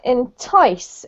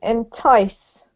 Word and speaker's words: entice: one is this one entice entice okay emphasis on the second syllable there and the other